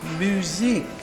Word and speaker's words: Muzak: Oh, it's muzak. What? Muzak. Muzak. Muzak. No, so it's pronounced music.